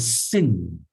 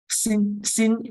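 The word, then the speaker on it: שׂ: This one, sin is just same as Samekh. Just the same as sound, s, as in snake.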